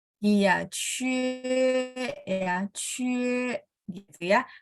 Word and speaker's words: 切: Jadi QIE itu biasa aja. Cie, yang penting Q bacanya CH. Cie.